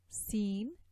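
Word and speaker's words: س: And these letters, Sad, Sin, Zay, are articulated by putting the end of the tip of the tongue on the plates of our two lower incisors.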